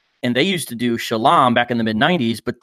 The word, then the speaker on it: Shalom: Similarly, they pronounce the popular greeting Shalom as Shalawam or Shalam, with regard to their salutation, one of the groups who broke away was called the House of David.